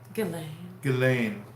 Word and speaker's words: Ghislaine: When you say Ghislaine, she should spell it like Dillane.